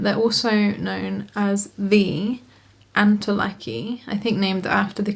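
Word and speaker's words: antolakii: I do now realize that it's pronounced antilaki. So sorry for me keep saying antilucky in this video and it was indeed Rory Antilac who founded this plant in Panama originally.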